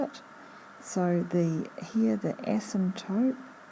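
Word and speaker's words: asymptote: so the here the ASM toope it's a strange word without a a silent P ASM toot ASM toot and this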